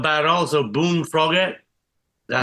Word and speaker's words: Boone Froggett: Also, Boone Froggett. That how Yeah, you that's pronounce it.